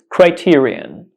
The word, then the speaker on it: criterion: Criterion Criterion Criterion so the correct pronunciation is Criterion Criterion Criterion it's a noun and